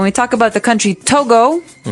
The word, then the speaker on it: Togo: So it's Togo. That's the way you pronounce it. Cuz if you look at it, I would say to go, right?